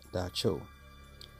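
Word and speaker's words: dab tsog: the nocturnal pressing spirit dubbed sog pronounced da cho it soon became frighteningly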